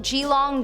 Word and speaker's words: Geelong: In our number 3 spot, we have the Old Geelong Gaol. It could be pronounced Geelong.